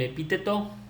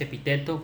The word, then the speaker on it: epíteto: Vamos con el epíteto. Es así como lo pronuncié, no es epíteto, como muchos a veces se equivocan.